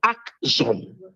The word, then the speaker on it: Axum: there for themselves called Akzom. Akzom. You could spell it Aksun or Axum.